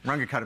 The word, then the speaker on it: Runge-Kutta: called the Runge-Kutta methods, sort of pronounced sort of Germanish where you say all the letters. Runge-Kutta methods.